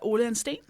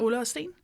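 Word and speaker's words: Ole & Steen: Ole and Steen. Oh, so cool when you say it. Ole and Steen.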